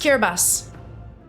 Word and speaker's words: Kiribati: I've been pronouncing it absolutely wrong. It's pronounced Kiribati.